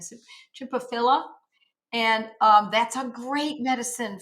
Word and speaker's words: Chimaphila: Chipophila, or sometimes I pronounce it philia and I'm wrong. There's not an IA, it's just A at the end. So Chipophila.